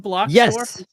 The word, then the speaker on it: Bloxdorf: Is that how you say it, Brandon Bloxdorf? Yes, awesome. Like a block and blocks and a dwarf.